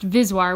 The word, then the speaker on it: VSWR: ratio z' are often abbreviated as VSWR pronounced vis wire which is how i'll